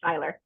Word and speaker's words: Seyler: I it was you know I was called sailor girl but it's actually Styler so all that teasing back in high school